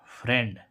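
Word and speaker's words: friend: है जैसे हम देखें एफ आर आई ई एनडी देखो यहां पर इस आई का उच्चारण क्या निकल रहा है फ्रेंड ए क्या निकल रहा है ए जैसे हम देखें फ्रेंड कैसे लिखेंगे इसको फ्रेंड क लिखेंगे फ्रेंड देखो क्या फ्रेंड तो यहां पर क्या आ रहा है आई का उच्चारण ए आ रहा है तो ये तो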